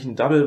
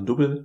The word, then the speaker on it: Dubbel: It's a Double, which - or Dubbel. Well, it's spelled "Double", but it's a Belgian recipe.